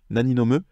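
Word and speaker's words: 何飲む: sachant que cette phrase sera très souvent en fait prononcée Nani nome sans le O en fait on va faire ce qu'on appelle une nomission de particule naniome parce que en japonais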